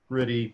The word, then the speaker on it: Truity: It's true. Truity Digital. Just say Truity Digital. Just say the true is.